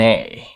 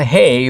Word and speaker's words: ey: Then there's A, E-Y. Not hey, but A.